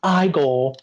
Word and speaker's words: Igor: frankenstein i've seen oh then you must be igor no it's pronounced i goal well they told me it was eager well they were wrong then weren't they oh